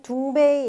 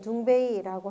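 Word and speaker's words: 东北: 자, 정확하게 말하면 둥베이라고 여기 써 있는데 중국 둥베이 일대 이렇게 되어 있습니다. 둥베이는 여기 이제 중국에서 유학 온 학생도 있을지 모르겠는데 동북을 중국식 발음으로 하면 둥베이라고 한다고 하죠.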